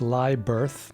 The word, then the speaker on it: Lyberth: name is rasmus lubit we would pronounce that rasmus live birth but in the greenland is the r is a bit muslim l-y-b-e-r-t-h and he has a